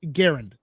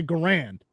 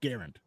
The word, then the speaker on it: Garand: people pronounced it but he said for the record it's Garand but if you want to say Grand I don't care yeah you know that